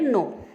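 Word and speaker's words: gnaw: यहाँ पे जी जो है साइलेंट है, नो, इसे अपन पढ़ेंगे नो।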